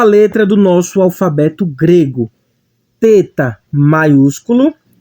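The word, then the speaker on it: θῆτα: texto ele vai representar o nosso t h ele vai ter aquele som bem suave como por exemplo em thank you como no inglês o th vai ter aquele som mais suave ele não vai ter o som de um ter como ter ele vai ter o aquele som bem fraquinho temos aqui a palavra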